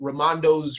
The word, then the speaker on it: Raimondo: have, which is called Raimondo's Requests. I don't know how to say her damn name right. Raimondo. Raimondo. Yeah. Raimondo. Like Ray, like my cousin Ray, like that, yeah.